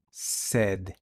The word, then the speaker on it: said: que está en pasado el pasado es s se pronuncia sed Cómo quedaría la frase